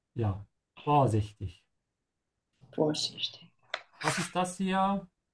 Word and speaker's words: vorsichtig: Make sure to emphasize the prefix here. Yeah. So stretch the O instead of the I. Yeah. Vorsichtig.